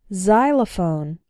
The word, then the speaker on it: xylophone: girlfriend ex-husband or ex-wife when X starts a word then it's pronounced like Z there are very few of these words in English but a couple of them are xenophobia xylophone and Xerox xenophobia means